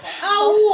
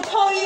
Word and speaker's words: 區: 勾啊，點會區啊？上次冇區嘅，個讀音咧就叫勾。